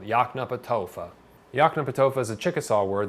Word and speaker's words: Yoknapatawpha: It's phonetic pronunciation. It's not that hard to pronounce, really. You can do it, I swear. Yoknapatawpha. That toe might be a little bit difficult. Yoknapatawpha.